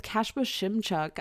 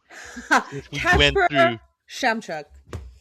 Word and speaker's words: Kacper Szymczak: This episode we I talked with Kacper Szymczak of Artificial Games on the new game they came up with called Minos.